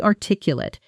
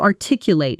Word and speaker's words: articulate: As an adjective, meaning able to express ideas clearly and fluently, that final syllable softens into a quick lit, lit. She's incredibly articulate. She always explains complicated ideas so clearly. As a verb, meaning to express something clearly, that final syllable opens up into a fuller late sound.